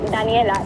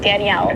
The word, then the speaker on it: Daniela: And you say my name Daniela, not Danielle or Danielle, and struggle with the double L.